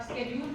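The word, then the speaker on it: schedule: American English है, स्केड्यूल है, आप स्केड्यूल फॉलो करिए, आप क्यों शेड्यूल आपको फॉलो करें?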